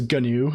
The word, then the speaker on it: GNU: heard it pronounced yes like how stalman says gnu yeah I I say gnu I think or or gnu I never say new like I I I I it's always it's never a silent G for me the Gnomes